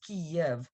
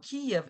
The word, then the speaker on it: Kiev: of his name now Kiev is the Russian way of pronouncing the name of the city it's the Russian it's